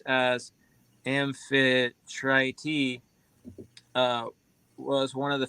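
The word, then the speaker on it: Amphitrite: who was a c nymph Infiltrate The Goddess pronounced as amphi try t uh was one of the 50 cnips born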